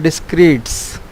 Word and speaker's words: Descartes: Descartes, somebody called René Descartes, but in French properly we pronounced him Descartes.